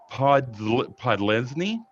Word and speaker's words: Podlesny: Georgia kicker Jack Podlesny was, I think that's how you pronounce it. I don't know. That's correct.